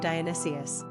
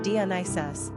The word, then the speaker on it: Dionysius: Popularity of the boy named Dionysius.